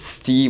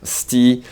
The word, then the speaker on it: hostie: So it's called hostie, and the way Canadians pronounce it is sti when they speak a little fast, sti.